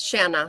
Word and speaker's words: Shanna: Shanna, how are you this morning? Is it Shanna or Shana or? It's Shanna, like rhymes with banana.